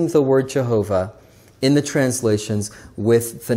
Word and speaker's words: Jehovah: And so it's J-H-V-H, which we pronounce Jehovah.